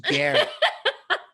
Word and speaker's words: Garrett: His name rhymes with ferret. Garrett. His name's Garrett.